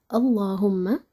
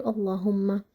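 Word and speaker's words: اللهم: If this letter has fatha, so lam in the word Allah or Allahumma is gonna be heavy.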